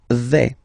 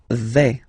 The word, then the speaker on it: vais: The first form is je vais. Okay, so remember, final S not pronounced here. Je vais. Okay, when you combine this A-I, you get the sound E, really open.